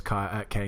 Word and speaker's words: Kai: There's K Novak. It's pronounced K. I'm not mispronouncing it, apparently, anyway. He says it's a K, so we'll go with the K.